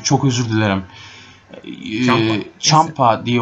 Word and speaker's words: Ciampa: Ciampa diye okunuyormuş.